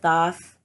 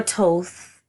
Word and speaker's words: Thoth: honor Isis and and Thoth or toast but but I believe he's pronounced so but I feel like